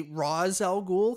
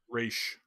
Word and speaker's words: Ra's al Ghul: And then I was gonna say Ra's al Ghul because I think that's how they say it in the movies, but it That's sounded like incorrect. but like Raj, like Rag almost.